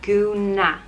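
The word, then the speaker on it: gúna: which means dress and it's pronounced guna guna my friends and i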